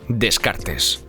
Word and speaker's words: Descartes: In many languages his name is pronounced Descartes, but in French his name is pronounced. "Decart".